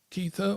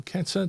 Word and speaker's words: Kether: three Hebrew letters that spell Keithther or keta depending on how you pronounce it and that basically tells you that the entire universe is formed of rotation movement i.e.